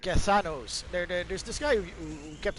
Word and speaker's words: Thanos: to him, no, Yeah, it's Thanos. it's Thanos. It comes from the word Thanatos, which is a Greek word.